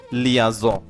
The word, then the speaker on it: liaison: স যেটাকে ফরাসি ভাষায় বলে লিয়াজ। উচ্চারণটাও হবে লিয়াজ।